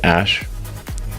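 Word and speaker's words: Æ: Um and then the AE is like pronounced ash.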